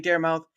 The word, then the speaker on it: Daramouthe: look, the E is silent. That doesn't mean it's not seen.